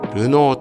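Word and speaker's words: Renault: が持てるポイントです R E aul T と書いてルノーと読むレナウンですね私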